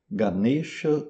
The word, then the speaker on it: Ganesha: Como que a gente pronuncia certas palavras em sânscrito? Ganexa ou ganex.